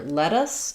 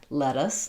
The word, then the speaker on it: lettuce: let us both because what happens here is when there's t in the middle of a word followed by an unstressed syllable so let is stressed and us is unstressed lettuce um um uh then we're going to flap those.